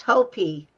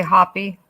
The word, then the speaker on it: Hopi: Pronounced Hopi. That's correct. Did I say hoppy?